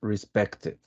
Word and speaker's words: respected: finish in Ed but when you have a t a letter T you pronounce the Ed right so in in